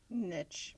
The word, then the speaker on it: niche: Is it niche or niche? I've been told I say it wrong. Niche. Niche group. It's niche.